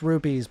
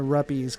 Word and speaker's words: rupees: It's pronounced rupes, but I like calling it rupies cuz it's funny.